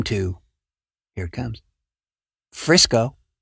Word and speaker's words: Frisco: to, here it comes, Frisco. Frisco rhymes with Crisco, and Frisco is in Texas, and I'm sure that they don't want to be confused with the West Coast variant.